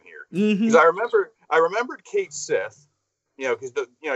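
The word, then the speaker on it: Cait Sith: And I've heard some people pronounce that character as Cat She. I'm like, why would you call it Cat She when clearly when you look at it, it says Kate Sith.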